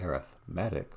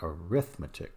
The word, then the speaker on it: arithmetic: of sequence it is it's called arithmetic with the emphasis on math but if it's an operation or a set of operations you do we call that arithmetic with emphasis on the